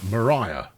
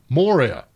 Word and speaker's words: Moria: when Jeff over there Mariah Moria it's the mines of Moria of course it is spelt Mariah Moria mmm shipping oh and